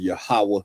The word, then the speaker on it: Yahawah: the properly pronounced Yahawah in the Hebrew.